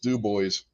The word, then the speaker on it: Dubois: how it's spelt uh it's not spelt but it is pronounced do boys that's exactly how they